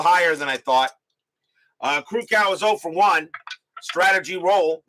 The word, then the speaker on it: Krukow: yeah rhymes with no it's crew cow it's I thought it was crew cow not show I don't think it's cruco it's not cruco it's crucial last night unless I checked not rhyming with now eyewear was crew cow not crucial not cruco I may I don't know that's what I heard I remember when I watched it I heard crew cow as um on the